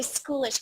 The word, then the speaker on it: schoolish: And I say schoolish because it rhymes with foolish.